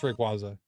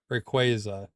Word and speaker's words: Rayquaza: It's Rayquaza. Still doesn't feel right. I'm trying, but Yeah, exactly. You're God forbid. Rayquaza. Yeah. Pokemon put out the official pronunciation. It's qu Rayquaza.